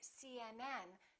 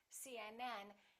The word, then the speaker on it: CNN: phd the rule is we stress the last letter of an abbreviation for example cnn ucla